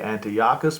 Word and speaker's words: Antiochus: I'm so used to saying Antiochus, I need to say Antiochus because that is the correct way of saying it.